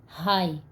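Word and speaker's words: high: गए हैं जैसे देखो पहला वर्ड है हाई हाई में जी एच हाई में जी एच लास्ट में आया हुआ है तो यह साइलेंट है प्ला लाव में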